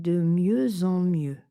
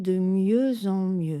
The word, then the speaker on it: de mieux en mieux: Le X est muet bien entendu et la liaison est en Z entre le X et la voyelle nasale en. Il y arrive de mieux en mieux.